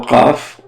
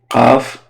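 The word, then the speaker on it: قاف: So Qaf. It looks like Fa, but it has two dots on it, and it's a little bit bigger. Qaf. So it's like a strong K.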